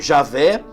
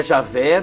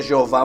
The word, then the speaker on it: Javé: O que mais se aproxima é Javé. Tem gente que diz que é Jeová, mas não.